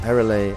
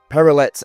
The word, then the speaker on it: Perrelet: We are here with Hugo Leiza from Perille and Ela or for my English speaking friends who have no elegance in their pronunciation Perillet and El Leroy.